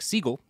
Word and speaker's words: Seagal: Frederick Seagal or well Stephen Frederick Siegel is uh the original pronunciation of his name so we'll get to